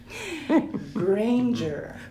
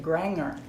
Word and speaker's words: Granger: do you pronounce Granger Granger very good like Ranger with a hard Jeep it's funny because there